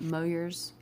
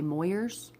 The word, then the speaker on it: Moyers: But she was the principal at Moyers. Yeah, it's spelled M-O-Y-E-R-S. So like the average individual would say Moyers. But no. Small town folks say Moyers. It's Moyers.